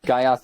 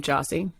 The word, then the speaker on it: Gyasi: the some of the names that people like guys is a pretty common one it's pretty rarely jazzy pretty much anything other than the way it's actually pronounced what's the origin of your name jossie it's from ghana africa okay the pretty traditional